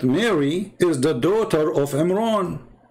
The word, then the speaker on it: Imran: He claimed that Mary is the daughter of Imran. How you can debate us about this? But Imran, even Muhammad, he called the name wrong. It's Imran, not Imran, but idiot as what you say.